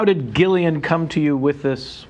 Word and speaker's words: Gillian: me try first cool Jillian no because there is a g so you want to say Gillian it is Gillian okay and then the